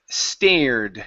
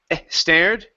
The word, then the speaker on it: stared: Instead of e stared, okay, take off that e sound. It's as he stared.